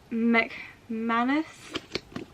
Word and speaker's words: McManus: So it's by Karen McManus.